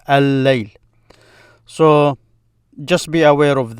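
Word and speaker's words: الليل: If you say al-layl, this is the night. It means night. But because it's the same sound as L, it sounds as if you're pronouncing the L. But in reality, you're just stressing the L of the night. Layl is the L in night. Layl. By stressing it, you're fusing the two together.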